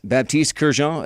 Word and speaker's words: Baptiste Kerjean: I'm joined by a senior from Saint-Brieuc, France, Baptiste Kerjean.